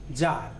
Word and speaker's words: tsar: তেমনি এক একটা অঞ্চলের যে প্রধান তাকে বলা হতো জার, TSAR। প্রোনাউন্সিয়েশনটা দেখে নিতে হবে, তার স্পেলিংটাও জানতে হবে, জার।